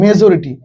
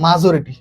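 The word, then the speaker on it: majority: এই যে মেজরিটি, এইটাকে ছোটবেলায় আমি বলতাম কি জানো, মাজরিটি, বুঝতে পারছো? এটা বলতে হচ্ছে মাজরিটি, মাজরিটি। ওকে, এটা আমি উচ্চারণ করতাম মাজরিটি, পরে কোন এক স্যার আমাকে বলতেছে যে এটা মাজরিটি না, এটা হচ্ছে মেজরিটি।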